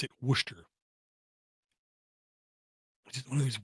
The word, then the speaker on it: Worcester: when i say worcester so i don't say warchester and sound like an idiot or like some kind of foreigner when all the locals pronounce it worcester which is one of these weird things man